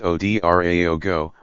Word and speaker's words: Ouedraogo: the country's president ROC Mark Christian cavour announced the death on Twitter no cause was given dot mr our logo pronounced OD ra ago was in his early